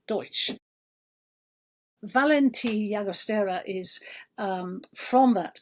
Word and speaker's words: Doix: It's spelt Doix, but that's Deutsch.